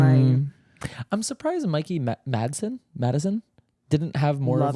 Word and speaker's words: Madison: Madson. It was like Mikey spelled like my name. Oh, yeah. Mikey Madison.